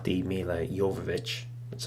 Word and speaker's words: Jovovich: new Resident Evil film, and not the Mila Jovovich, that's how you say her name, not those films, but another CG movie, which again is going to star Leon.